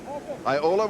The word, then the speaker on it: Iola: Craig, born in Iola, Wisconsin, is that the way that's pronounced? Yes, that's right.